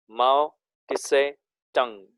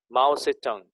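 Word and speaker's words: Mao Tse-tung: माओ से टंग, MAO-TSE, again dash TUNG, माओ टिसे टंग। Actually उसे टिसे नहीं बोलते हैं, से बोलते हैं खाली, माओ से टंग ऐसा नाम है, लेकिन टी साइलेंट है उसमें।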